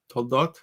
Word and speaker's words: Toldot: This week we read the Toldos, Toldot, in the Sephardi pronunciation.